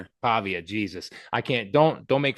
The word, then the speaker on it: Pavia: Um Diego P uh Pava Pava Pavia.